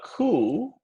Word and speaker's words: coup: spanish okay okay a coup in spanish is golpe notice that p is silent okay very good that's